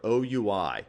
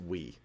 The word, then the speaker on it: OUI: The first part of this address is the Organizationally Unique Identifier, or OUI. Don't pronounce it we.